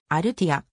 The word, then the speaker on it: アルティア: nc ダイノス所属生の正しい発音はアルティア 2009 年の mlb